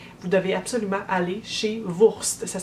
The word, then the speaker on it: WVRST: Donc, si vous visitez Toronto, vous devez absolument aller chez Wurst. Ça s'écrit W-V-R-S-T.